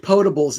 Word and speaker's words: potables: Potables or potables? Potable. Potent potables is the correct way to pronounce it.